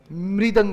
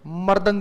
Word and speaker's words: मृदंग: मृदंग होता है, मर्दंग नहीं होता है, मृदंग होता है।